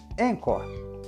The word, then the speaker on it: Anchor: todo mundo começa aqui Vale lembrar que encor se escreve a n c h r encor o jeito mais fácil